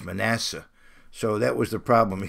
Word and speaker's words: Manasseh: But in Hebrew, it's Menasheh. But in English, it's Manasseh.